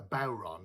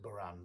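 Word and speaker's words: bodhrán: uh yeah so that the word is a bauron okay so this is a bauron uh some people pronounce it buran but uh traditionally called a bauron which is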